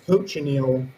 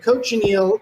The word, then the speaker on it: cochineal: you're referring to is cochineal which is a hard to pronounce word the mnemonic device for this coach and eagle my students always like that